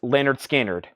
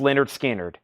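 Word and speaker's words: Lynyrd Skynyrd: is Leonard skinnard pronounced Leonard skinnard Leonard skinnard pronounced Leonard skinnard it's on the OG first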